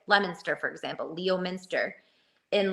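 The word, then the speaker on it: Leominster: and then go like cuz he was like pronouncing every town and city in Massachusetts like Lemonster for example.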